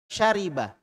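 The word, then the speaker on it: شَرِبَ: Syariba. Syariba berarti wazannya apa? Fa'ila. Ini ya. Ini di fathah, di kasroh, di fathah. Berarti fa'ila. Gitu.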